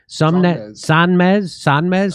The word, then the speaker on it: Sonmez: Sonmez.